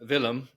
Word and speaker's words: Willem: excellent um will uh I'm sorry I said William villum um who is from